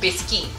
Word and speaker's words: biscuit: biscuit it's actually written like biscuit but it's pronounced biscuit so this tends to be okay it's very